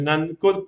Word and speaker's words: Namkut: Se escribe igual, pero es Nankut.